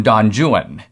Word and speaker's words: Don Juan: Byron wrote a work called Don Juan, but in Byron's day it was actually pronounced literally Don Juan.